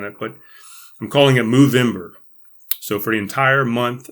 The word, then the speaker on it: Movember: month I'm calling it move in bur it's spelled Movember so it's just like November but it's good it's an mo on the front stead of an end clever I don't know